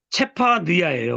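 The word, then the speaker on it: צפניה: 체파, 느야. 이렇게 체파, 느야. 뭐예요? 뜻이 뭐라고요? 구속의 하나님이 감추셨다. 스바냐. 스바냐가 이 체파 느야예요. 원래 발음이.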